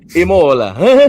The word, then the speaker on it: Imola: Imola.